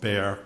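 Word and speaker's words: Bexar: chief medical examiner of beay County Texas and for the transcriber bear is spelled be xar the ex asil um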